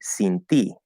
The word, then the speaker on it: sin ti: Now, the letter I in Spanish is supposed to be pronounced E, right? Is that first vowel. So it should be sin ti, and usually that is how it will come out.